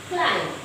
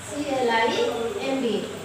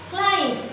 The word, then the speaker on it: climb: Climb. CLIMB. What do you read it? What do you pronounce it? This is not climb. This is climb. This is climb. Here B is silent.